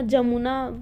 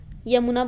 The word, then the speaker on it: यमुना: यमुना पता होगा, जमुना वो तो बिगड़ा हुआ प्रोनाउंसिएशन है, यमुना बोलते हैं।